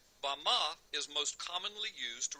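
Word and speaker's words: bamah: in the Strong's Hebrew Dictionary, and it is pronounced Bama. Bama is most commonly used to refer to a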